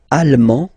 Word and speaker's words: allemand: L'Allemagne, allemand, allemande, okay, same thing here. En, okay, you don't pronounce the final D, but then you pronounce it here for the feminine form.